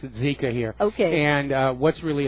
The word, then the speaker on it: Zika: It's pronounced Zika here.